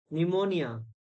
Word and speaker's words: pneumonia: psychology honor hent silent pneumonia p is silent in this so you can practice